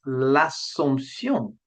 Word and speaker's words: l'Assomption: In French, there's hardly any difference in sound, but it is there if your ear is well tuned to French pronunciation. So the French for Assumption Day is l'Assomption. L'Assomption. And for Ascension Day is l'Ascension. L'Ascension, l'Ascension.